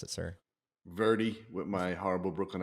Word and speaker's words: Verdi: in the big Northeast uh Verde verza Verdi how do you pronounce it sir Verdi with my horrible Brooklyn accent the accent's cool